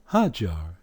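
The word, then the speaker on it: هاجر: like Aji for example ha jar you know Hagar hajjar that's how they say it in Arabic here they're telling you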